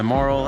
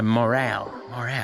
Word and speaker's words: morale: My moral is good. I don't know why I keep calling it moral. It's my morale.